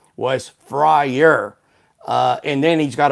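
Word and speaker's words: Fryrear: F R Y R E A R pronounced Frier.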